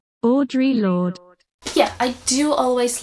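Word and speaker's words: Audre Lorde: do you say that Andrea Andrea lard that's not how you say it I'm sorry Audra Lord Audrey Lord yeah I do always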